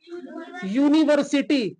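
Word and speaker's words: university: क्या आता है यूनिवर्सिटी देखो वावेल है लेकिन इसका साउंड कैसा है यू अगर आप बोलेंगे क्या यू तो यू कैसे राइट करेंगे ये तो बताइए यू जो य है यह साउंड किसका ले रहा है कंसोनेंट का साउंड ले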